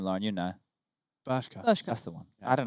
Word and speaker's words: Bershka: Bershka.